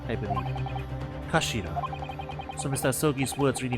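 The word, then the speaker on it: 頭: end of the hillt it's written as head in Japanese but it's pronounced as Kashira I believe Kashira so Mr ai's words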